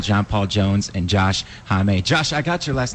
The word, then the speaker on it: Homme: I feel like rhymes with mommy. Yeah, that's it's a good way. Like mommy and salami.